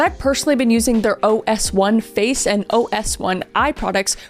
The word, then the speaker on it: OS1: And what sets OneSkin apart is their science-first approach, because they've developed this patented OS1 peptide, and when I say OS1, that's exactly how you pronounce it.